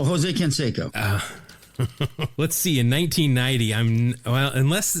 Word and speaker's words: Jose Canseco: Well, let's see if I can pull it off with, how do you say this? Joe's Canseco? Oh, Jose Canseco.